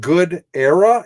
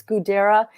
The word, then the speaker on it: Gudera: It's Gudera. It's based in India. He's, an Indian man. Yeah. Okay. So but he pronounces it Gudera.